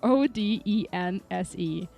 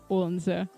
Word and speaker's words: Odense: Odense is spelled Odense. There is no L in Odense. There is Odense, Odense.